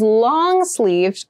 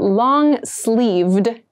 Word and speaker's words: long-sleeved: we consider long and make sure you clearly pronounce that D sound at the end so not long sleeve but long sleeved shirt long-sleeved shirts are good